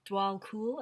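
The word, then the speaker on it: Djwhal Khul: spelled DJ wall cool but it it is pronounced like DW DW cool I think it's DW cool is I love this name DW cool Dharma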